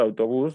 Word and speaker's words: autobús: En el caso de autobús, lo mismo, podemos ver que es una sílaba, una palabra que clasifica como aguda, porque la sílaba tónica es la última de la palabra. Y tenemos también que va acentuada porque termina en S.